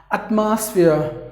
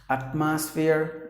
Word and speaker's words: atmosphere: Please don't do that. Atmosphere, no. It should be atmosphere. Atmosphere. That's how you have to pronounce the word. I would like to pronounce it again. Atmosphere. Atmosphere. Atmosphere. That means you have to give the stress here.